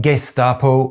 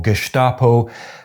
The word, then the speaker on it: Gestapo: Regarding “Gesstapo” or “Geshtapo”: as I said, it’s a mess. But for now you can use whichever of these pronunciations you prefer: according to all the dictionaries I’ve seen, they’re both valid.